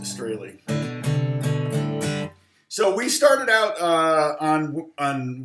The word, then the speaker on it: Strahle: Yes, it's pronounced Strahle.